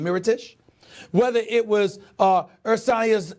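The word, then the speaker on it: Mirotić: very simple whether it's Brook Lopez whether it's Moreau Tisch heritage rather I'm sorry I'm know why he put mispronounces name Mira Tisch whether it was earth science euros ela love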